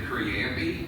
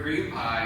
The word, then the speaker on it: cream pie: So from the age of 14 to 36, I pronounced it creampy. And it wasn't that actually until a girlfriend of mine said the word cream pie, and I almost mansplained to her that it's pronounced creampy.